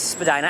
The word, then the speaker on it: Spadina: And there is Spadina Avenue, or if you want to make fun of it, you call it Spadina Avenue.